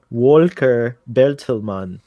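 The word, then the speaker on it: Volker Bertelmann: i was gonna say the correct pronunciation of the composer's name is walker beltelmann welcome to um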